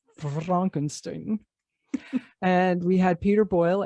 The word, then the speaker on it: Frankenstein: Frankenstein. No, it's pronounced Frankenstein.